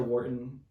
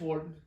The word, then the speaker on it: Wharton: joe has had joe wharton joe i apologize if i mispronounced your last name it's warden um 59 years has